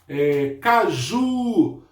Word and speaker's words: caju: Caju. Caju. O ju é a minha sílaba mais forte.